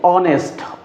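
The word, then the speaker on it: honest: কিন্তু এখন দেখেন এটার উচ্চারণ হচ্ছে এন অনেস্ট।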